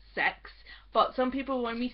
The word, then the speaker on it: CeX: have to call it kex because it's spelled CeX or some of us just call it C ex but it's pronounced sex but some people when